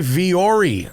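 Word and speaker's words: Vuori: brought to you by viori I love viori and it's spelled v-u-o-r-i it's not a very radio friendly brand to advertise is it because it sounds different than it is but viori is great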